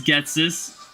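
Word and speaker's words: Ghetsis: Is it really Getsus? I thought as a child they want to indicate Jesus with a special pronunciation. Does that look anything like Jesus? You also spelled his name perfectly, so... Yes, it is Getsus.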